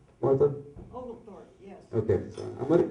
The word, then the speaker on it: Oglethorpe: Am I pronouncing that correctly, Martha? Oglethorpe, yes.